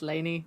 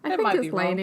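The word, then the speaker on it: Laini: pronounced her first name I think it's Laney Laney that's how I've pronounced it for years so hopefully oh well by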